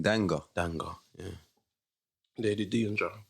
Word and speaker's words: Danga: Is it Danger? Well, when we did our research, it's spelled D-A-N. D-A-N-G-A. Okay. Yeah, That's how she used to spell it still. Okay. Lady Danger. It's Lady Danger.